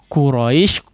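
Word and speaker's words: قريش: dengan huruf Kaf ya pengucapan huruf qaf ini perlu diperhatikan ya dia ditempelkan pangkal lidah Nya kepada bagian yang lunak langit-langit yang lunak atau bagian dagingnya sehingga dia terdengar lebih kuat ya terdengar lebih kuat secara pengucapan Nam jangan di larikan kepada huruf Kaf ya Quraisy Quraisy lao-ho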